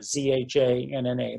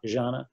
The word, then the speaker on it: Zhanna: The only grandparent she had left really was my mother, and so she said, "Well, my mother's name is Zhanna, Zhanna, like Zsa-Zsa, Zhanna, that pronunciation."